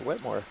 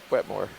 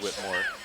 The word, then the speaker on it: Wetmore: oh you're right yeah it's uh it's wet more wet more i think i thought it was just pronounced whitmore let's turn the mics